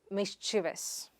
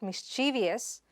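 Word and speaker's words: mischievous: The next word is mis-chi-vas. It is not mis-chii-vious, mis-chi-vas.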